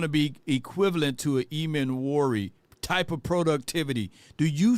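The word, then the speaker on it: Emmanwori: Eman Warry, that's how you say it.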